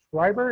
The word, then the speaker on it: Schreiber: We are in Indie Beacon Radio, and today I have with me Joseph Schreiber. Is that pronounced correctly?